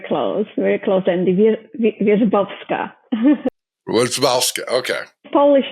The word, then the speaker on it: Wierzbowska: Wierzbowska, okay. Polish names. No one can pronounce them.